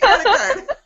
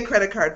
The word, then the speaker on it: credit card: You're like, sweet, credit card. Okay, so say credit card for me. Credit card. Okay, too much emphasis on card.